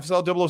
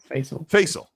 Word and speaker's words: Faisal: Facel 007 with a 449 pound super says for each. Am I saying that right, Gasimus? Faisal. Thank you. Oh, that's right. I remember Faisal saying it's pronounced like Hazel.